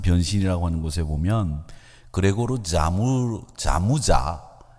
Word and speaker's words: Samsa: 이 사람이 쓴 변신이라고 하는 곳에 보면 그레고르 자무자 SAMSA인데 잠자라고 미국 사람들은 읽던데 자무자라고 하는 사람이 주인공입니다. 그 사람들은 자무자라고 읽는데 미국 사람들은 삼사 이렇게 읽어요. 그렇지 않습니다. 자무자라고 읽는 게 정확합니다.